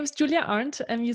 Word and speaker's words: Julia Arndt: you do yeah of course my name is Julia aren't and you said that very correctly and very well pronounced and I'm originally from Germany I grew